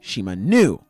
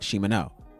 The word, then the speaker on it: Shimano: She's like, hey, don't want to be mean or anything, but my name is pronounced Shimanu, not Shimano.